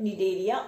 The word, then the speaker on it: Cnidaria: Phylum Porifera, phylum Cnidaria, C is silent, Cnidaria or Coelenterata, phylum Platyhelminthes, phylum Nematoda, phylum Annelida, phylum Arthropoda, phylum Mollusca, and phylum Echinodermata.